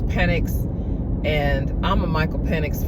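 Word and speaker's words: Penix: fan from the beginning I probably was saying his name wrong in in earlier uh car conversations but it's it's penx and I'm a Michael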